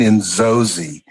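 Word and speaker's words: Inzozi: do you say that you say it in Zozi it's a Rwandan term that means dreams realized so what's what's in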